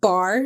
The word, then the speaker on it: barre: But bar class is spelled BARRE.